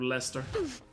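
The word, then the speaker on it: Leicester: Cuz if it wasn't for the 2016 Premier League season, everybody would call it Lancaster instead of Lester.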